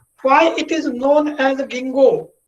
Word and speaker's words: ginkgo: Why it is known as ginkgo? Ginkgo. Its pronunciation is different and it is spelled in a different way. Ginkgo.